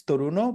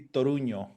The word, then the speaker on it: Toruño: Well, it could be like in English and anything that is not Spanish is Toruno, but in Spanish Toruno. will be Toruño.